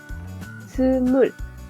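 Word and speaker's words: 스물: Su forma larga es t-mul. T, digamos que esta U no se pronuncia, por decirlo así, de forma abierta, sino que es una U entre los dientes, por eso le pongo acá arriba este palito. S, T, mul. Small. Como si nosotros fuéramos a decir en inglés small.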